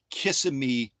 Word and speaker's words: Kissimmee: very busy schedule in Kissimmee, Florida, or if you want to say it properly, Kissimmee, Florida, and join us today.